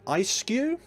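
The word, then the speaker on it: Eiscue: Ah, Reverse Hollow Stuffle, and an Ice-Skew is how you pronounce that card.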